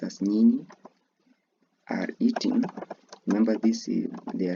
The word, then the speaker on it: nyinyi: You, because it is plural, the Swahili word will be nyi, pronounced as nyinyi, are eating.